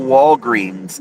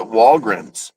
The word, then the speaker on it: Walgreens: management at my local Walgreens it is indeed pronounced Walgreens and they actually sent an email higher up in the company to find out if anyone in their areas pronounced it walg and they said they